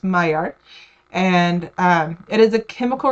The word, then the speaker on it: Maillard: It is French, so that's why it's pronounced Maillard.